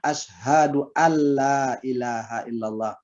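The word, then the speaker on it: أشهد أن لا: rous bacanya arrow Husna Asyhadu anla ilaha illallah bacanya asyhaduallailahaillallah dibacaan asyhaduallailahaillallah bukan Ali bertasydid pada lam tapi adalah and bertasydid pada lam jadi Ashadualla asalnya adalah Asyhadu anla selanjutnya hukumnya yang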